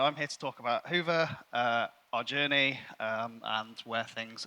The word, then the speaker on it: Hyvä: The official version is Hoover, but you can pronounce it however you like.